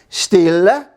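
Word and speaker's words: stille: day it's very quiet how do you say quiet still still it's still quiet still sounds like in the still of the night it's quiet out what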